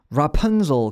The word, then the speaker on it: Rapunzel: Rapunzel. 그리고 요것도 중요한데 라도 중요한데 이건 그냥 라라고 하면 되거든요. 라 요렇게 punzel, zul.